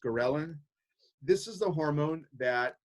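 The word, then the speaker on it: ghrelin: and histamine stimulate then there is gorilla kind of interesting spelling it's pronounced Karelin this is the hormone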